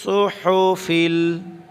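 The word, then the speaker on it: صُحُفِ: সুহুফি, সুহুফি, সাদ পেশ সু, হা পেশ হু, সুহু, ফাজের ফি, সুহুফি।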